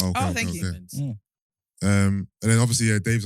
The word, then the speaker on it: BNXN: It's pronounced Benson, BNXN.